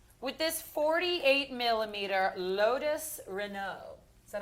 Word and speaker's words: Renault: we're staying big with this 48 mm Lotus Renault is that how I pronounce that uh yes Lotus is uh from